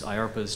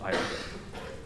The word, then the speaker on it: IARPA: So we like to give an overview of IARPA at these proposer days because oftentimes people come in and think, IARPA, what the heck is that? So our name sounds like DARPA, and it rhymes with DARPA, and in fact we